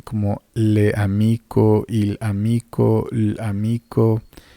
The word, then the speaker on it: l'amico: Se va a leer como si fuera una sola palabra.